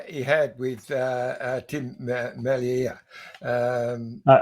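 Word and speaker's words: Merlier: It's like the ear on the side of your head. Merier because he's Flemish. He's not French. He's not Merier.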